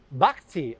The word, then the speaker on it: Bhakti: horrible ingredients these guys how would you pronounce that art bhakti very good i would have butchered